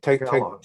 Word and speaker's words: Tagalog: Tagalog. Is that how you say it? Tagalog, yeah. Tagalog?